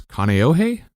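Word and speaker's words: Kāneʻohe: And from what I understand, you were born and raised in Hawaii, and you'll have to help me with the pronunciation. I think it's Kaneohe?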